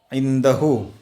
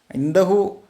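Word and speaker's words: عنده: പഠിക്കാൻ കഴിയും ഇനി അടുത്തത് ഇന്തഹു അവൻറെ അടുത്തുണ്ട് ഇന്തഹു എന്നാണ് പറയുക ശരിക്കും പക്ഷേ സ്പോക്കൺ അറബി വരുമ്പോൾ ഇന്ത ഇന്ത ഇന്തഹ അത്രയേ വരുള്ളൂ ഇന്തഹു ഇന്ദഹു എന്നുള്ള ഹു എന്നുള്ള ഉച്ചാരണം വരില്ല ഇന്ദ അവൻറെ അടുത്തുണ്ട് അത്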